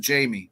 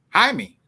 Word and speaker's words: Jaime: oh the yeah is it Jaime Jaime or is it Jamie yeah I think it's in Spanish Jaime Johnny is it it's honey it's pronounced I mean it's Jaime but they probably call him Jamie considering they probably yeah